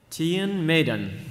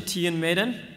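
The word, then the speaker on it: Tion Medon: our prequel character our prequel character today is Tian Maiden so that's the official pronunciation Tian Maiden that means Tim said it wrong during her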